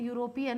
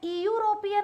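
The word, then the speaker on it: European: जब मैं इसे लिखती हूं या सुनती हूं तो मैं इयूरोपियन नहीं बोल रही हूं।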